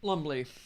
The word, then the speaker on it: Lumbly: Carl Lumble. Lumble? There was how do you say it? Lumble? Lumbly.